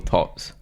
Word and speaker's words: TOTHS: So do you prefer Therapists Off the High Street or TOTHS?